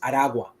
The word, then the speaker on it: Aragua: And yes, it's pronounced Aragua.